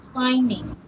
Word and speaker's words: climbing: The first word is climbing. Climbing. Climbing. No b sound. Climbing. Climbing. But the spelling is with b.